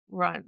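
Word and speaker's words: Ruhn: would bring something fun as as Rune Run Run.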